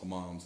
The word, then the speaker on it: hammams: Hammams, it's H-A-M-A-M-S, hammams, that's how I pronounce it.